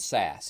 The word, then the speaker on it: SaaS: and there's s AAS some people pronounce it pass and SAS now pass is platform